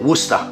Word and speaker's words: Worcester: You pronounce it Worcester. Worcester sauce, that's it.